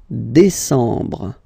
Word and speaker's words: décembre: Octobre, novembre, novembre, novembre, ok, E-M, en, novembre, novembre, and the last one, décembre, décembre, décembre, same thing, E-M, en, décembre, ok, so let's repeat them, juillet, remember this, yeah, yeah, yeah.